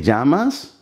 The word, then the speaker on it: llamas: ¿Cómo te llamas? ¿Cómo? Two syllables. ¿Te llamas? The double L in the Spanish sounds like z, z.